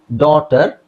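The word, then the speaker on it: daughter: ಬರ ಇಲ್ಲೂ GH silent ಡಾಟರ್ GH silent ಇದು ಆಲ್ರೆಡಿ ನಾನು ಹೇಳಿದೀನಿ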